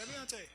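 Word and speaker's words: Avionté: Great, and how you pronounce Aviante, just grab a beer and pretend you're doing cheers. Aviante.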